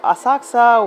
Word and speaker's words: Asakusa: A quick stop at one of the automated toilets, and we were off to Asakusa with a silent U to visit the famous Sensoji temple.